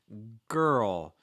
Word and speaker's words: girl: we're saying girl uh anytime you get these like rl combinations they're always a little bit tricky okay so when you're